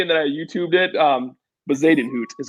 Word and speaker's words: Bezuidenhout: Bezuidenhout is how you say his name.